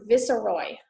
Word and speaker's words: viceroy: the others alright um the first word is pronounced vissa Roy okay so it's a s sound from the